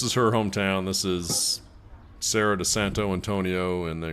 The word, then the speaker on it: Serra de Santo Antonio: her hometown this is Sarah de Santo Antonio and then you're supposed to roll your R and Sarah pretending like pretend like